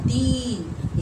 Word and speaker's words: दिन: तो ये दिन होगा दीन। इसका उच्चारण खींच के हो जाएगा दीन, और ये होगा दिन।